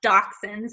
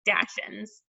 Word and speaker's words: dachshunds: The word is actually pronounced dok-sends even though it looks like it would be something different like dash-ends, that's not actually how you say that one.